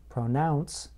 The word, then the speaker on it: pronounce: Note that in the word pronounce, I place stress on the second part of the word, pronounce.